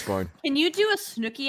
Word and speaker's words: Snooki: it's Snooki.